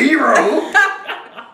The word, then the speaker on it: gyro: Kettle Cooked Greek Town Gyro. I say gyro, family. Well, it ain't that bad. Them in the comments. It's gyro. Yeah, people do pronounce it differently. It's a hero.